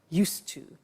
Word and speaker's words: used to: have now we use used to look at the spelling s it's it's us Edie and then T ough but the pronunciation is not used it's used unusual used ok so the example